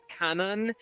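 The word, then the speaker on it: Kwannon: original new character named quanen who was actually pronounced Canon but there's actually no equivalent name cannon in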